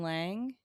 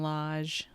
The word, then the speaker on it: Lage: Correction, it's Julian Lage.